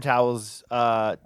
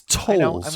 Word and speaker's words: Tolls: They're gassing their car up at Tom Towels. I say towels. That's I know. I'm gonna pronounce how it's tolls, right?